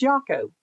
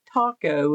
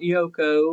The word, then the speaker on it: Yako: And it's Yako. If you guys don't know it, it's like Taco is how he pronounces it. Not Yoko or Yokoono or whatever you may think it is. It's Jaco.